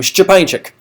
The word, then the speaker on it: Szczepańczyk: spell my last name, Szczepańczyk. Just like it sounds. Yeah, exactly. Actually, that's true. If you follow the pronunciation patterns of Polish, it is pronounced exactly as it's spelled.